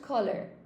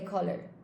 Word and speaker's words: colour: They want to stay with the traditional spelling, even though we don't pronounce it like it's written. Okay? So it is pronounced like the American way. It's pronounced color.